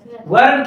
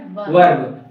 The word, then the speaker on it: verb: क्या बोलते है क्योंकि आर साइलेंट रहता है ठीक अगर उसके पहले कोई वल आता है तो आ क्या हो जाता है साइलेंट हो जाता है